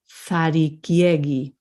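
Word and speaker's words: Zarikiegi: Notice that they're pronouncing all those vowels. That's what's tricky. And then when we look at that word, there's no accent mark. So we have to assume that the emphasis is on the E. Is on before the syllable before the last.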